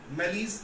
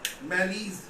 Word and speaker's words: malaise: MALAISE लिख लो, MALAISE, मैलीज कहते हैं, इज नोन एज मैलीज। क्या बोलते हैं? मैलीज, राइट?